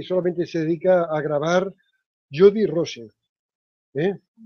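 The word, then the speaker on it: Jodi Rose: Es una artista australiana que solamente se dedica a grabar Jody Rose. ¿Eh? Ahora te lo estoy pronunciando exactamente como se escribe. Rose. R-O-S-E. Jody, con Y, Jody, R-O-S.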